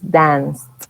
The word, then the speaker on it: danced: No decimos dance, decimos danced. Esos verbos que terminan en esa C. Ese verbo termina en E, pero no se pronuncia la E en este caso, entonces sería danced. Danced.